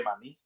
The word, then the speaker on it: maní: Mantequilla de maní. De maní. So that E on that maní, it has an accent mark.